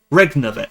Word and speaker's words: regnavit: It's not regnavit.